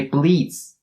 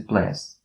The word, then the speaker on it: bliss: Bliss has the short e sound as its vowel. So don't say bleeds. Don't say bleeds. Don't say ignorance is bliss. But it has to be ignorance is bliss.